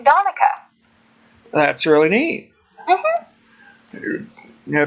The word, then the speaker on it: Donica: Did you say it Donicia, or how did you say it earlier? Donica? Donica. Well, that was close, but it's Donica. Donica. Like Monica with a D.